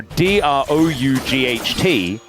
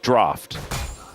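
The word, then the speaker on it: draught: So, D R O U G H T is draft, but people think it's pronounced drought, and it's just not.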